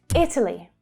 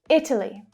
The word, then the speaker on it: Italy: Italy, Italy. The first syllable is the stressed syllable. The other two reduce.